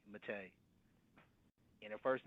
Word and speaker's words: Mattei: Mattei. And her first name is spelled E X Let's go to to the next call.